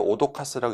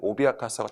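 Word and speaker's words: 脅かす: 제가 아까 이거 오도카스라고 읽지 말라고 말씀드렸는데 오비아카스하고 차이점 말씀드릴게요.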